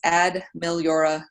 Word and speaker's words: Ad Meliora: And for those of you playing along at home and wondering exactly how you do pronounce my business name, it's Ad Meliora Coaching, which is Latin for better things.